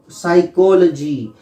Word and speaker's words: psychology: और देखिए PSYCHOLOGY, यहां एस से स्टार्ट करेंगे, ये जो है साइलेंट रहता है पी, जैसे इसमें के साइलेंट रहता है, इसमें पी साइलेंट रहता है, तो इसको बोलते हैं साइकोलॉजी।